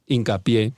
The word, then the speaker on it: Hincapié: Hincapie. Hincapié, but hincapié. Oh, Hincapié. I speak Spanish. Hincapié. I didn't know. Nelson Hincapié. I didn't think of saying it in Spanish, guys.